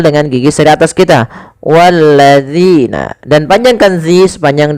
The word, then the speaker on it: والذين: Pada lafal bacaan walladzina, kita lihat di sini pada lafal zina, hati-hati di dalam melafalkan huruf zal. Jangan sampai kita membacanya menggantinya dengan huruf zai. Misalkan wallazina, ini salah.